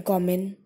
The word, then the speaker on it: common: Okay, so the first syllable is being stressed upon. Common. I'm not saying common. I'm saying common.